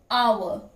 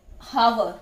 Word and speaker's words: hour: that word it is our although h is there but h is silent here but we don't say hover we say our so